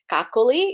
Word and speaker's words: Kakali: was difficult to pronounce the first name is pronounced as kakuli it's like broccoli but you say it with a K if you have problems